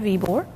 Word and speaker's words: Ybor: questions they want to know how do you pronounce the name and we tell them it's Mr ebore name uh and the second question is well